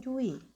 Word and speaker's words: Dewey: yang membicarakan itu ada John Jui ya jadi membacanya Jangan John dewey kawan-kawannya John Jui janji